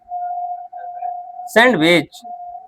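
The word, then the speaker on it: sandwich: सैंडविच। सैंडविच नहीं। डी तो silent है। डी के साथ क्या है? डब्लू है। देखो डब्लू लिखे हैं। डी के साथ डब्लू है ना? तो डी क्या हो गया? साइलेंट।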